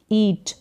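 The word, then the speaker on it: eat: इट इसका उच्चारण नहीं होगा, ईट करके होगा, EA का उच्चारण बड़ी के रूप में हो रहा है, तो ईट यानी खाना।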